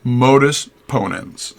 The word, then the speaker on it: modus ponens: different forms this is the first one is modus ponens is how you say that an example from